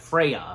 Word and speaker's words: Freya: F Freya. Freya I think. Yeah. Again I'm pretty sure that's how her name is pronounced being played by good old Emily Blunt.